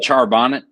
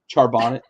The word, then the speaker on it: Charbonnet: a big day uh career high rushing yard pronounce it charbonnet charbonnet uh career high rushing yards um two touchdowns